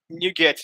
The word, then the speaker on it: NuGet: NuGet is pronounced as new and get.